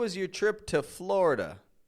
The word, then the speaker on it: Florida: is your trip to Florida notice I'm not saying Florida or florid but rather Florida older Generations will say it like Florida Florida and that's totally fine